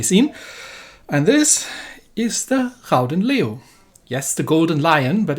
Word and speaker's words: Gouden Leeuw: and this is the rouden leo yes the golden lion but if you want to actually properly pronounce it i believe it's called the crowden liu it can be a